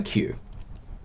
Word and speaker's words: queue: capital q q no q being the same pronunciation as its first letter is going to annoy me so i have a queue and i can do